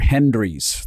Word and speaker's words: Hendry: Hendry's. That's with a D. Hendry's. Not Henry, Hendry.